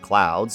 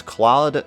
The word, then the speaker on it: Cloud: Fair to contrast with Cloud's as a play on fair weather versus cloudy weather. In Kana, his name can also be read as Claude Strauss, but was specifically pronounced Cloud to fit the allegory.